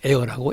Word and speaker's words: Ayre: 아리아는 이제 이태리 말이고 영창이고 그다음에 그걸 불어로는 AIR, 에어라고 그러고, 이제 그 에어를 영국에서 그냥 에어라고 AYRE로 표기하고 발음은 똑같아요. 에어라고 그래요.